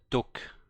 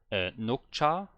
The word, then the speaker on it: 녹차: Yeah, she's saying duk charang with a D in the front. So that threw me off. I was thinking about Nukcha with an N, but